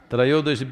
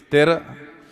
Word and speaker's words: Trayodashi: North Indian people must connect, don't go on clipping away one syllable and come Dhanavantari becomes Dhan, Trayodashi becomes Tera. Don't keep clipping it away So, here we are.